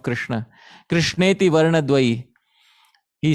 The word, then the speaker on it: Krishna: Sri Rupa Goswami says that the two syllables, Krish and Na, these are the two syllables of the name of Krishna.